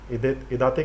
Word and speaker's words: इदाते: और इडेट कमेटी को सही प्रोनाउंसिएशन देख लेना, इदाते कमेटी कुछ ऐसी थी